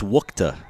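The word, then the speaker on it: Wuchte: It's spelled W-U-C-H-T-E. It is Wukta.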